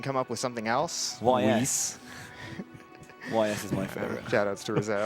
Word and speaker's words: Ys: YS.